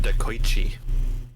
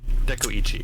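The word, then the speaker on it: Dekoichi: gonna flip some in decoychee dekuichi is actually the correct way to pronounce that of course of course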